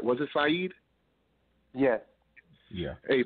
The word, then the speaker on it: Siheed: Was it Siheed? Yes. Yeah. Hey, Siheed.